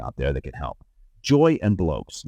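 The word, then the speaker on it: Joi + Blokes: Joy and Blokes. That's spelled J-O-I and Blokes, B-L-O-K-E-S, just like it sounds. Joy and Blokes.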